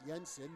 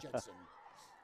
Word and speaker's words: Jensen: That's what replaced by Tatum Jensen. Or I guess if you're from the Netherlands that would be pronounced Yensen, but we're not in the Netherlands, so it's Jensen.